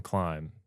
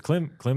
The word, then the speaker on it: Klim: Because Klim is also like a Dutch word, like to climb, like a verb.